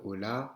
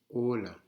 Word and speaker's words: hola: On accentue, on ne dit pas hola, on dit hola. On accentue sur le O.